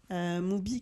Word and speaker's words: 무비: Moo-bi qui peut s'apparenter au niveau de la prononciation au mot movie, oui, en anglais.